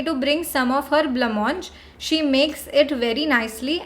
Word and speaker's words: blancmange: Okay, so this word blancmange, this is not pronounced as whatever the spelling is, it's pronounced as blancmange like this.